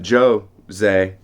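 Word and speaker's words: José: jose saramago jose saramago i've been told that joe zay is how you pronounce this portuguese uh correct me if i'm wrong christina um but jose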